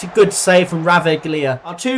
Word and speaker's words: Ravaglia: Good save from Ravaglia.